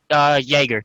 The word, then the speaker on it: Jaeger: Jaeger, just like a Jaeger bomb, or yeah.